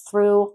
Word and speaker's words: through: Through. Not true. True means verdadero. True. Different word. Through. So if you're not pronouncing that TH, like the Z in Spanish, with your tongue between your two front teeth, then you're saying a different word or you're pronouncing it as a T.